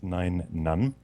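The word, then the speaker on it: Nien Nunb: so the alien is nine none okay uh like number nine and keep saying rotic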